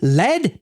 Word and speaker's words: lead: HPC blog LED it led to an improvement when the word l e a d is pronounced like LED you're talking about the element now not to bury